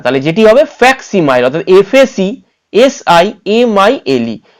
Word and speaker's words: facsimile: তাহলে এটিও হবে না, এটিও হবে না, এটিও হবে না, তাহলে যেটি হবে ফ্যাক্সিমাইল, অর্থাৎ FACSIMILE। ভেঙে ভেঙে উচ্চারণ করুন, ফ্যাক ফিএসি ফ্যাক, সি ফ্যাক্সি, MILE মাইল, ফ্যাক্সিমাইল। বোঝা গেল?